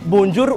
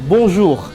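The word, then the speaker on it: bonjour: Nah, jadi bacanya itu bukan bonjur ya, tapi bonz. B jug. Nah, bonjug. Jadi, R-nya itu gitu gitu.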